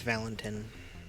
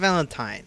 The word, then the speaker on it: Valentin: It's Valentin. And not Valentine. Valentine's spelled different. Valentine is a E.